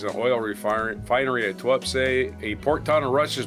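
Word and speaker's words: Tuapse: TWAPS. T-U-A-P-S-E. TWAPS. The Kremlin fiddles while TWAPS burns. I just got the pronunciation.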